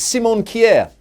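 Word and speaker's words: Simon Kjær: i messed up simon chair i think it's simon kier oh okay there you go just so eloquent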